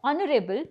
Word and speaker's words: honorable: such words the words honorable begins with a consonant but the article an is used with it this is because H is silent in this word the beginning sound in